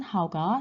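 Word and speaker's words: 好: 여기에서 주의할 점은 하가 원래 몇 성인가요? 그렇죠. How 할 때 how 3성이었습니다. 그렇죠? 보호로 할 때는 경성으로 될 경우도 있겠지만 취미일 때만 하우가 사성입니다.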